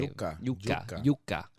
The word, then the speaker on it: yuca: in with wheat or yuca. Actually, no, sorry. That's the wrapping. It doesn't only have to be cornmeal. That's what I was trying to say. Yuca. Yuca. Not like you're saying Jew.